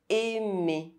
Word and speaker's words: aimer: AI is pronounced E or E. The letter I can be written with or without a circumflex accent. Aimer, aide, traiter, s'il te plaît.